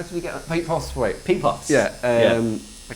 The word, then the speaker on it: Postlethwaite: How did we get Pete Postlethwaite? Pete Potts. Yeah. Yeah. I can never say his name. Pete Postlethwaite.